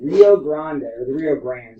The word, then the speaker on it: Rio Grande: So he decided to build a model train of the Rio Grande, sorry, is how you pronounce it.